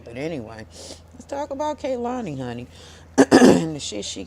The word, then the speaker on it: Kehlani: And if y'all feel like I'm pronouncing her goddamn name wrong, just say it, baby. Kehlani, okay?